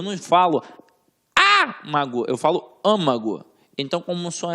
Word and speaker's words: âmago: L leva acento âmago como é que eu falo âmago eu falo âmago onde é que tá o som mais forte na anti penúltima sílaba Ou seja eu tenho